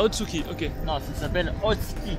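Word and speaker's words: 大月: Non, ça s'appelle Otsuki. Otsuki. On ne prononce pas le U.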